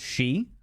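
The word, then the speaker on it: sí: which is stooping Lou see is pronounced she oh thank you very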